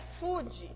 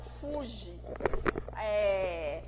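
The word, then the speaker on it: 富士: E lá no fundo você vê o Monte Fuji, que a pronúncia certa é Fuji e não Fuji. O J lá no Brasil se pronuncia Di, o Gi no caso se pronuncia Di, né?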